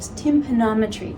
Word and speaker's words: tympanometry: So we're going to do something called tympanometry. Did I pronounce that right?